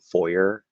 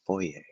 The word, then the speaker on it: foyer: said something about like the foyer i was just like it's fourier um that's how it's supposed to be pronounced uh but i mean yeah we we really americanize it i'm pretty sure that's another word that came from french uh french and um